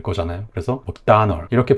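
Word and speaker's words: McDonald: 그래서 이 맥도날드를 다시 와보면은 맥도날드에서 드 발음은 없는 발음이었고, 그리고 발음을 찾아보면은 두 번째 음절에 강세가 있습니다.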